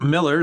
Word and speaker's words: Millar: found the proper pronunciation it's just supposed to be miller um i don't it